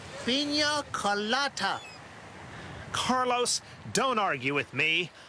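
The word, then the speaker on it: piña colada: Carlos, could you bring me another pinas coladas? It's pronounced pina colada.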